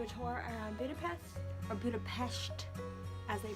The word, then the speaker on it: Budapest: We are about to do a tour around Budapest, or Budapest, as they pronounce it.